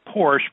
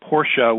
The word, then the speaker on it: Porsche: that Americans tend to tend to make it Porsche but Porsche would be the correct pronunciation and we'll we'll go through that very